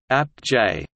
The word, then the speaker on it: ApJ: The Astrophysical Journal, often abbreviated APJ, pronounced APJ in references and speech, is a peer-reviewed scientific